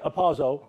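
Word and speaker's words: ἁρπάζω: Everybody say apazo. Apazo. Starts with an H, but it's pronounced apazo.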